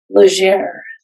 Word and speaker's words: Legere: my name butchered endlessly, how do you pronounce your last name? Legere. It's exactly what I thought. Yes. It's French, correct? Oui, it's French Canadian.